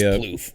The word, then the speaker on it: Plouffe: Trevor Plouffe. It is Plouffe. Yeah. Yep. It's spelled weird, but Plouffe.